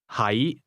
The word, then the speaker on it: 喺: 係 The difference is that to be is pronounced with a low, level tone, and to be located is pronounced with a mid-rising tone.